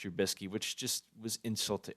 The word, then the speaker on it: Trubisky: completely butchered his name he said the nvp goes to mick trabuski oh instead of mitch trubisky which just was insult